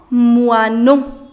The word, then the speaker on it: moineau: Sparrow, un moineau. Un moineau. The pronunciation of OI is OA. So it becomes moi, moineau. Mosquito.